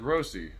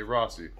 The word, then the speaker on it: Rossi: the unnamed woman named her name is kayla rossi i almost said rosie i'm not sure if you pronounce it either way but that's her name kayla i'm gonna say rossi and i gotta say